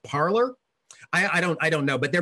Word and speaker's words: Parler: particular a site called Parler would be the French version, but somehow I think that they're probably not going to pronounce it in the French version. It means to speak, right? They're probably not using the French pronunciation.